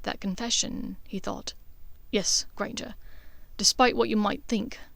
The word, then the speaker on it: Granger: Granger. It rhymes with danger, you know.